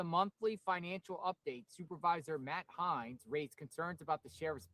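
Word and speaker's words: Heinz: How do you say his last name? Hines. H-E-I-N-Z.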